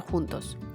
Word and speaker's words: 十: the gesture is a fist, let's read together (shi2) 十， (shi2) 十， (shi2) 十.